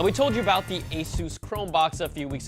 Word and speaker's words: Asus: again Asus thank you see it's not Aus or Asus it's Asus and you know I